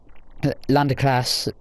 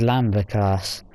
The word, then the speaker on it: Lambert: but there was like Landerclass Lambert. I got told that I'm saying it wrong when I say Landerclass. Apparently it's Lambert class.